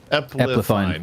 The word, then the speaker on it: Epplefine: Epplefine is how, like, it's ep then fine.